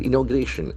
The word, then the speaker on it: inauguration: 19 opposition parties are to boycott parliament inauguration. We have got one more noun with shan ending. INAUGURATION. Shan ending. Inauguration. Inauguration. Can see the accent falls on the third syllable.